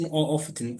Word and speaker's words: often: هي often مش often. خلاص يعني التي silent ما تنطق. it's not pronounced.